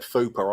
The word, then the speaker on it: FUPA: I mean, I must admit, as soon as you said fupa, I assumed it was probably one of these budget signings we're going to make.